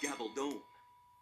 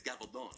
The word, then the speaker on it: Gabaldon: Americans pronounce it Gabaldon. Gabaldon. Gabaldon. In Spain, it's Gabaldon. That's the proper. Anyway, Diana Gabaldon.